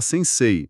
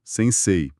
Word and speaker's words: sensei: O pessoal tende a falar sensei, mas o certo é dar uma alongada no e final. Sem sei.